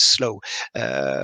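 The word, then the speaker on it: S2LOW: most famous is Slow, S2 Low, which we pronounce Slow, which has been reused by more than 11,000 local authorities.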